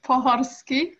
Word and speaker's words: Pohorski: it so it's pronounced as that's all right poharsky yeah i would have butchered that um is one of my uh